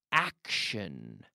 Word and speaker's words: action: Ahora vamos con la palabra action. Action. Y quiero hablar de esta palabra hoy porque es interesante la pronunciación y como digamos en inglés action con T.